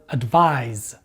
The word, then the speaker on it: advise: with the verb advise the stress in both of these words falls on the second syllable however the last sound of the noun advice is the s sound and the last sound of the verb advise is the z sound and this brings us